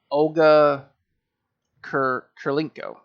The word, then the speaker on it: Olga Kurylenko: Camille, help me pronounce her name. I don't want to butcher it. Olga Kurylenko.